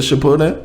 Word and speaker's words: Shippuden: Is it Shippuden?